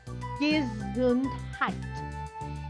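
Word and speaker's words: Gesundheit: that is a funny looking word which is pronounced desuned height it is a german word that wishes someone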